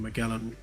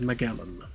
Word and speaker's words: Magellan: Ferdinand Magellan is how we pronounce it in the UK. It's pronounced Magellan in the US. and a few other countries. I don't know which country pronounces it which way, but it is pronounced differently depending on where you are in the world.